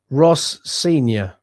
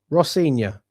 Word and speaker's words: Rosenior: Um, it's pronounced Ross Sior. Ross Sior. Rossior.